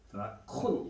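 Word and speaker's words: δράκων: 드래곤, 드라콘 이렇게 정확한 발음인데 우리가 드래곤이라고 많이 부르는데 애니메이션 같은 거 보면 드래곤볼 있죠.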